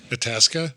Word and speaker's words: Itasca: just have normal words itasa itasa adasa spell it i t a CA itasa itasa that sounds better itasa um so